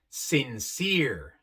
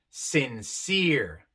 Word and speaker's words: sincere: Aquí tenemos la E separada de otra E por una sola consonante y viene al final de la palabra. En estos casos, la primera E se pronuncia larga, I, y la E al final queda muda. Su función, otra vez, es decirnos que la primera E es larga, I. Athlete, supreme, sincere. La E también se pronuncia